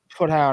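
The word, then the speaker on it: Proudhon: I can never know how to pronounce this guy's name. I never say his name right. It's Purdue or whatever it is.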